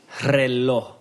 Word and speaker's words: reloj: All right, so the Spanish word of the day is reloj.